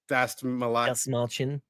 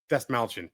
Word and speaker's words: Dastmalchian: So already, as you know on the show, we are a fan of David Dastmalchian. Dastmalchian.